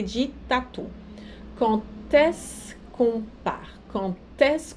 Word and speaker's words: quand: Eu sei que é bizarro, mas o quand, na hora de fazer a liaison, o D se pronuncia como se fosse um T.